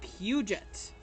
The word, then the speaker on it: Puget: it's not safe to go oh right it's pronounced puget pew pew jet cass is a bird guy